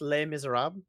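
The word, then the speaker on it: Les Misérables: have a French viewer and I know it's pronounced lame is Arab yeah but you're but you're a piece of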